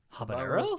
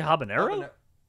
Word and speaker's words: habanero: know what Pepper would be that you can't pronounce uh the the haban Hab habos Habano pepper maybe are you trying to say habanero sorry I had a stud moment oh my